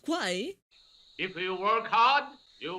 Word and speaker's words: Kwai: How did he pronounce it? Quar? So it's not Kwai?